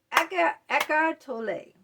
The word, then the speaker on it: Eckhart Tolle: Now, echartole or echartol, some people pronounce it different ways.